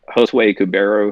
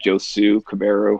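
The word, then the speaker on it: Josué Cubero: too um we had josue kubero who i i famously mispronounced that joe sue cabarro and the blind cat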